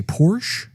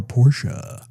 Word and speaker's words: Porsche: to pronounce the name do you usually say Porsche or Porsche cuz I've heard it both ways yeah you could say it either way I did really matter tomato tomahto everyone knows what you're talking